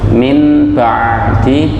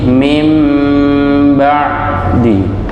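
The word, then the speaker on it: مِنْ بَعْدِ: Maka cara bacanya gimana? Membalik atau menukar atau mengganti dengan huruf mim. Min diganti dengan mim ya. Min ba'di. Mim ba'di.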